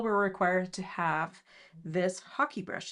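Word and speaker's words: hake: um we all were required to have this hockey brush it's spelled h a k e uh and as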